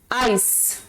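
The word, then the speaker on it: ice: उसी तरह से आइस, आइस सी से एकदम, जो सी है उसके बाद एकदम बाद कौन सा लेटर है? ई है। आई को नहीं देखेंगे हमने देखना है कि सी से एकदम बाद जो है वो कौन सा लेटर है, या किसके एकदम पहले सी है, तो ई है यहां पर, तो ये कौन सा प्रोनाउंस होगा? आइस, आइक नहीं बोलेंगे इसे, ठीक है।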